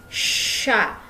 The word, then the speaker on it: chats: Dibacanya ce sont nos chats. Jadi C sama H itu dibacanya sh, seperti huruf shod kalau bahasa Arab.